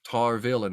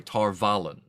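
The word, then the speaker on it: Tar Valon: yeah you can see the tar of tar villain in the back sorry tar vallen i think they pronounce it okay in the background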